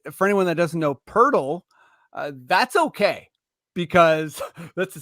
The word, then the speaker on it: Poeltl: And for anyone that doesn't know Poeltl, that's okay because that's a step further than Wordle. It is a word, of course, that rhymes with Wordle.